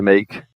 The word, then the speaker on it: make: Lembrando que make acaba com esse e mudo, acaba no K, tiro o e fora e boto energia fazer uma sílaba nova agora, né?